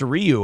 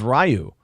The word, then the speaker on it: Ryu: a mind blow that it's pronounced Ryu I always thought it was Ryu holy